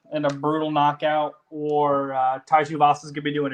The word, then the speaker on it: Tai Tuivasa: Tai Tuivasa.